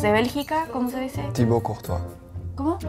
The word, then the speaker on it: Thibaut Courtois: Pero la pronunciación tiene que ver, ¿no? Es de Bélgica, ¿cómo se dice? Thibaut Courtois. ¿Cómo? Thibaut Courtois.